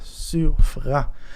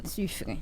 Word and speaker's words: Suffren: Qui j'ai en prononciation normalement moi c'est Suffren en fait Suffren justement SU2FREN donc qui peut-être qu'a fait Suffren mais c'est Suffren.